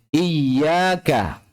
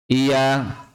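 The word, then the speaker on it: إِيَّاكَ: Jika kita mengubahnya dengan menghilangkan shadda pada huruf 'ya', maka menjadi 'iyaka'. Ya, perbedaannya memang tipis. Iyaka. Iyaka. Tidak ada shadda.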